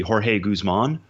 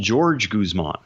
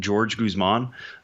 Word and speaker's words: Jorge Guzman: we believe to be Jorge Guzman wants to be called George Guzman.